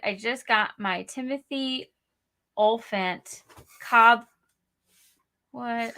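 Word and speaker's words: Olyphant: just got my timothy olphant cobb what i said it wrong i always thought it was oliphant isn't it i know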